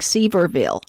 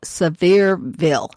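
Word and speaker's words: Sevierville: that far from me is what looks like seaverville but it's pronounced surveill severeville and i thought why do you want to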